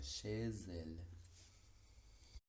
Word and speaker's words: chez elle: fenómeno de la liaison, toma sonido, tiene un sonido propio, y ese es el de la S, por lo que la pronunciación sería chez elle.